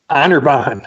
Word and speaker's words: Anirban: Anirban.